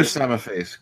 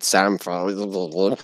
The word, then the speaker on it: Samaface: Well, hello, Samaface. Good morning. I'm glad you're here. No, Antwon. Just say it properly. It's Samaface. I said that. No, you didn't. You said Samface.